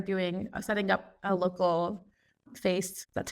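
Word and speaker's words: FAISS: so here I'm doing setting up a local face that's how you pronounce it Vector database and then here is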